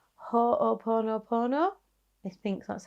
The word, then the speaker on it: Ho'oponopono: I would highly recommend looking into something called Ho'oponopono. I think that's how you say it. Ho'oponopono.